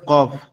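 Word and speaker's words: قاف: ঠিক আছে এরপর হচ্ছে কফ কফ হচ্ছে আমাদের জিউবার গোলা থেকে একটু আগে সামনের দিকে একটু আগে বাড়ায়া উপরে তালুর সঙ্গে লাগবে লেগে উচ্চারণ হবে কফ কফ কফ কফ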